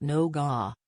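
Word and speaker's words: nougat: as Angela after all I pronounce nouet as nugget and not noga but if strictly has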